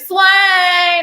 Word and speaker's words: Swann: It is pronounced Swan, like the Swan. bird, lyric Swan.